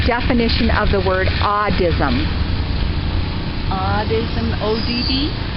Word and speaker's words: audism: Audism, O-D-D? A-U-D-I-S-M. And not A-U-D, not autism. Right. Audism. No, I don't know it.